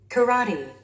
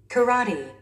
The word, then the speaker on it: karate: Karate. Karate. Karate. Karate. Karate. 라의 스트레스가 오고 있습니다.